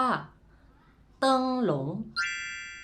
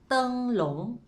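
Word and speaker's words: 灯笼: โคม ไฟ ใน ภาษา จีน เรา เรียก ว่า เติง หลง ทุก คน ออก เสียง พร้อม กัน ครับ เติง หลง แปล ว่า คม ไฟ หรือ ว่า คง ไฟ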